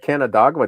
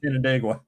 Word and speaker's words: Canandaigua: Don't ask me to pronounce anything. Worcester. Exactly. Is that Worcestershire sauce? Worcestershire. Yeah, yeah. At least I got Canandaigua down. No, you don't. It's Canandaigua.